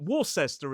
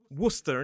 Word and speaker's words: Worcester: And that's why Worcester is not Warcester, it is Worcester.